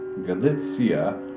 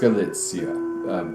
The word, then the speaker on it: Galicia: so happens that that 100-year-old man came from galitzia also known as galissa which is also a place further west a bit more pleasant weather no it's galitzia or some people call it Galino gachina as